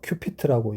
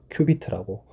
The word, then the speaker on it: 큐비트: 제가 발음이 안 좋아서 큐피트라고 얘기를 해서 누가 댓글을 다시 큐피트가 아니라 큐비트라고.